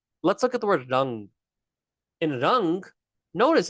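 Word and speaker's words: રંગ: It's this weird little sound in the back of your mouth. Rang, ng. It's this ng sound. So when we have a g after the mindu, it is pronounced ng, palang, rang.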